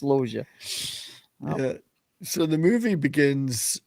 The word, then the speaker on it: Loggia: If I hadn't heard him pronounce it correctly myself, I would have pronounced it the same way you're doing it. But yeah, it's Logia.